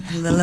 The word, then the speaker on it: Lilibet: Lilibet, is that how you say it, Marnie? Lilibet.